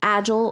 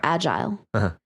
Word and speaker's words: agile: And this is interesting because this can be pronounced two ways, agile or agile.